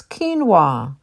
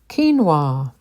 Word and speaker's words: quinoa: this and say this word wrong but it's quinoa quinoa vitamin vitamin vitamin Buffet Buffet jalapeno by the